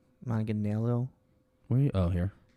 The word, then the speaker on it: Manganiello: I can never pronounce his name. Manganiello.